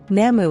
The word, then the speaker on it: namu: sound effects are beneficial if pronounced correctly with the u at the end of nam as the nama sound the new writings of